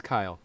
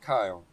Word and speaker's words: Keil: It's Kyle, Kyle.